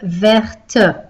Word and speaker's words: vert: This one had a silent T. Un cahier vert. As soon as we put the E, the T is not silent anymore. So, une règle verte.